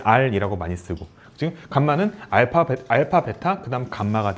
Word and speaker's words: 감마: 요거 r이 아니라 감마야. 감마. 그래서 r은 요렇게 쓰고 감마는 렇게 써. 헷갈리는데 그냥 어 알파 베타 옆에 있는 건 감마라고 읽으시고요. 단독으로 렇게 써 있으면 r이라고 읽으면 돼.